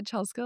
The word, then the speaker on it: Chelsko: She's, yeah, Chelsko like Costco. So funny.